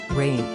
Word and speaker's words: Reign: disick the youngest disick rain pronounced like rain was born on december